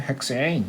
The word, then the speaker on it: 헥산: 이거 교수님들은 헥세인 이렇게 발음하시는데요. 저는 그냥 헥산 이렇게 촌스럽게 발음하겠습니다.